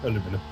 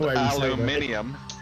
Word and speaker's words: aluminum: Aluminum. Well, that's the way it's spelled. It's not spelled aluminium. It's how it's spelled. Yeah, that's an American term. Aluminium. Aluminum rather than aluminium.